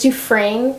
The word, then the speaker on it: Dufresne: pronounce his name okay it's Dufresne like Andy Dufresne from Shawshank Redemption so sorry John Genta